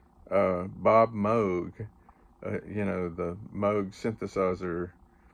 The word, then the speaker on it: Moog: I'm not sure where he looked it up, but he always pronounced Bob Moog, you know, the Moog synthesizer. Everybody else said Moog, and I thought Sam was kind of eccentric,